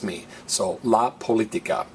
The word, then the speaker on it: política: there were no accent it would would be pronounced politia so remember that aent means hey don't stress the next to Last Vow stress me so la politica how are we going to remember that go